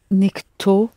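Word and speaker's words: никто: talk sheet I not you need another nickname nikto nay cheetah youth nikto is singular so it's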